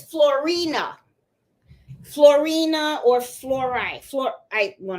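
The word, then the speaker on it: Floriani: And there's another one that's really, really shiny that I like, and I call it fluoride, but I know I say it wrong because y'all know my Spanglish, okay?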